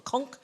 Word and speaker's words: conch: It's called a conch, but the British say a conch.